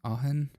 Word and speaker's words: Aachen: first Bon Festival aen I think that's pronounced ahen 62 double threes he